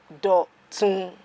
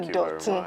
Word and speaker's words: Dotun: His name is Dotun. So Dotun, hi. Hi. Hello, Dotun. Hello, Dotun. I believe that's how it's always pronounced.